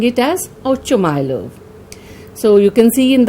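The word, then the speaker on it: Ochumelov: Some call this Ochumylov or Oshumylov. I'll be pronouncing it as Ochumylov.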